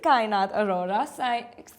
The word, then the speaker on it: Kainat Arora: This is Nishka Mehta with Kainat Aurora. Kainat, I pronounced it correctly, right? Kainat Aurora. Yes.